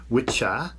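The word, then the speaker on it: wicce: At this time the English language had gender and so there were two words the masculine witcher which is wicca pronounced witcher and the feminine wic pronounced witch.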